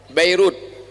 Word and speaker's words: Beirut: Jangan bacanya Damascus. Sedangkan Lebanon ibu kotanya Beirut. Bairut.